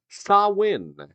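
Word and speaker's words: Samhain: practiced by the Kelts it was known as sawin spelled completely different than that uh I'm not even kid it's spelled s m h a i n and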